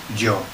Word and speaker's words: yo: Joe. So that sounds like Joe, yeah? It's like somebody's name in English, Joe.